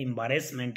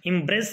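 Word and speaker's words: embarrassment: तो अब आता है एम्बैरेसमेंट, इम्प्रेस नहीं होता है, एम्बैरेसमेंट होता है EMBA, इम्बा डबल एर।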